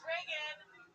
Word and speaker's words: Reagan: Hey, it's Reagan. It's spelled like Regan because my mom named me after the president, but she spelled it wrong because she's a Republican.